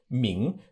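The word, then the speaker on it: 明: to mean bright now the way to say it in modern chinese ming means bright but then we can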